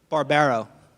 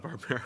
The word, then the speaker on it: Barbaro: Barbaro. That's two bars. Barbarella. As somebody whose last name gets mispronounced all the time, I have a lot of sympathy for Mr. Barbaro. It's not Barbara.